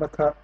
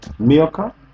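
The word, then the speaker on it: Milcah: And Makah. Pronounce the name. Milka.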